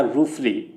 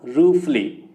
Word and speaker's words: ruefully: इसका जो प्रोनाउंसिएशन होगा वो होगा रूफली। क्या होगा, रूफली।